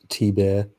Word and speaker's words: Thibert: Art's last name is indeed pronounced T-Bear. Everyone's saying different things. Mr. Dong says Thibert.